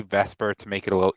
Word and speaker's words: VSEPR: I know it's spelled VSEPR, but we just say VSEPR to make it a little easier.